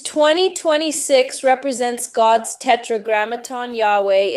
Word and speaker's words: Yahweh: So the closest pronunciation is Yahweh.